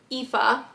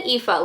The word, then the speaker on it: Aoife: how to say her name, and his girlfriend, Aoife. Did I just say that correctly? I literally just looked at the pronunciation. Yes, Aoife.